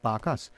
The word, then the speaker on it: Barkers: So not unlike whether it's spelled Barkers, but it's Barkas.